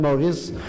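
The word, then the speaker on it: Morris: Des colonnes Maurice, d'abord, ça s'écrit M-O-R-R-I-S, ça c'est du nom probablement de la personne qui a comme lancé ces choses-là.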